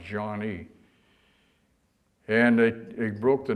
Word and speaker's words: Joigny: Jean fr spelled j o i gny y pronounced John E and they they broke the news to us